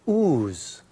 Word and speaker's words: Oz: mine said they're showing Oz there now but the funny thing is they don't they don't pronounce it Oz they pronounce it ooze ooze which I found ironic